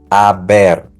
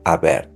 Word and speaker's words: haber: You're gonna go with the verb haber. So here's the chart with the conjugation for each person with the verb haber in the present form. He, has, ha, hemos, han. Remember that the H is silent.